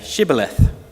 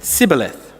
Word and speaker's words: Shibboleth: they said to him then say Shibboleth and he said Sibyl ahthe for he could not pronounce it right then they seized him